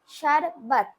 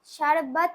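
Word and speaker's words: शरबत: শারবাত, শারবাত মানে আমরা যে বলি শরবত। শারবাত, সেটা হিন্দিতে উচ্চারণ হয় শারবাত, কিন্তু বাংলায় আমরা বলবো শরবত।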